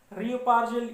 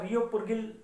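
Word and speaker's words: Reo Purgyil: शिला है, रियोपार्जिल या रियोपुरगिल जो मर्जी प्रोनाउंस करे, और तीसरी है शिपकी।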